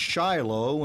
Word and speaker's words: Shiloh: is the former mayor of Shiloh the place pronounced Shiloh and hundreds of biblically named places in America